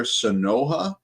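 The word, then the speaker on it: Sanoja: base and shortstop eligibility I believe you pronounce his name Javier sonoa s n oja a is is take word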